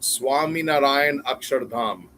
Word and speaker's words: Swaminarayan Akshardham: It's pronounced Swaminarayan Akshardham.